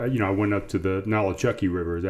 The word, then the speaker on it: Nolichucky: I went up to the Nolichucky River. Is that how you say it? Yeah. Nolichucky, from Tennessee down into North Carolina.